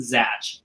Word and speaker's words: Zach: about zach with the ch which is actually pronounced zach see let me let me let me dive